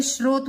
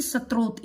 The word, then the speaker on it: स्रोत: ये मैं बता दूं, ये श है और ये श के अंदर रह है, तो इसलिए ये स्रोत बोला जाएगा, न कि स्त्रोत। इसका उच्चारण स्त्रोत नहीं है, इसका उच्चारण होगा स्रोत, स्रोत के आधार पर।